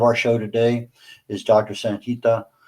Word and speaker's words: Sangita: My first name pronounced as Sangita, and the Swechcha is not my last name.